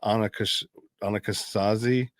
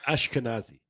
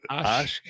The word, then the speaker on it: Ashkenazi: There are the Anakasazi, I think, or I don't know. Ashkenazi. Ashkenazi. I can never pronounce that. Ashkenazi.